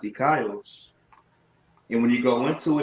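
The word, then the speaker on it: δίκαιος: That word righteous in the Greek is dikaios. It be pronounced dikaios.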